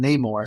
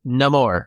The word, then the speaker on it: Namor: Everyone pronounces it Namor. So that's how they pronounce it in the game, buddy. Okay. And that's how they pronounce it in Black Panther.